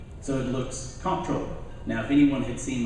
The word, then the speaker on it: comptroller: not you're a neat i usually say controller because that's the actual proper pronunciation even though it's spelled CEO & P so it looks comptroller now if anyone had